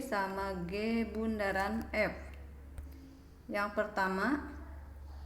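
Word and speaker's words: g ∘ f: f nah dalam matematika ditulis g o f atau seperti lambangnya di atas dibacanya G Bundaran F nah ini penjelasannya nah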